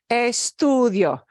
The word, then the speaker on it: estudio: obeys the rule okay eStudio okay one thing to know is d-i-o the i o hangs together that's a diphthong right eStudio eStudio okay Entre